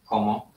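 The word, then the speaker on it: cómo: Ani wykrzykników, ani pytajników nie dał, więc właściwie trudno interpretować, bo komo z akcentem na pierwszą sylabę właśnie sugeruje albo wykrzyknienie, albo pytanie.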